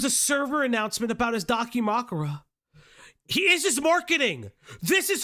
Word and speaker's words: Dakimakura: Dakimakura? Is that how you Yes, say a it? Dakimakura.